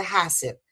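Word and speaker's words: Husserl: menciono a Huser, a a Huser que se pronuncia Hasser.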